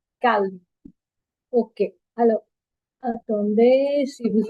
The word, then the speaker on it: calme: In English, we don't pronounce the L, but in French, we calme.